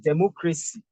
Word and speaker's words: democracy: Look at democracy. Democracy. Because of this, we stress from the back the third syllable.